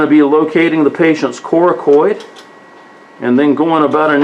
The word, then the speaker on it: coracoid: Coracoid. Whatever you say, Coracoid.